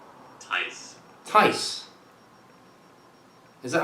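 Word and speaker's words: Thijs: It's not going to be a J sound. Be a Y.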